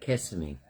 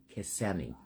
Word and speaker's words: Kissimmee: Just like Kissimmee, not Kissimmee. I call it Kissimmee. It's spelled Kississmme.